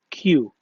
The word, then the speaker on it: queue: This word Queue بننطقهم صوت واحد وهو صوت الكيو، فينطق كيو.